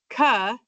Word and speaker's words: CAH: And then CAH is going to be pronounced ka.